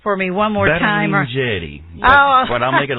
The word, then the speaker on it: Berlingieri: His name is Robbie Berlingieri, and you're going to have to pronounce that for me one more time. Berlingieri. Oh. But I'll make it a little bit easier. Berlingieri.